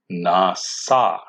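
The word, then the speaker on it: נשא: But this word is also spelled with a shin, but the shin is still pronounced with an S, nasa.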